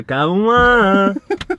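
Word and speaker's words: Kauan: I don't know if that's how you say his name, but it's spelled K-A-U-A-N. Yeah, Cauan.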